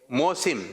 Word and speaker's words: موسم: صحیح جو تلفظ ہے وہ ہے موسم.